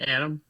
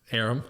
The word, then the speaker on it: Aram: We started calling it Aram. Aram.